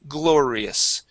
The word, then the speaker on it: glorious: It's that L. The L is the tricky part, okay? Because you have to use your tongue a little bit more to pronounce that L.